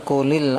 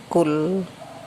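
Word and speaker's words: قُل: Ini membacanya kul ya, kecuali kalau diteruskan kulil anfal. Kalau berhenti kul, jangan dibaca kuli, kul gitu. Karena kasroh li ini sebetulnya tidak ada.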